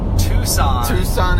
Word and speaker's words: Tucson: Tucson, Arizona, yeah. Which is spelled the opposite of the way you would expect.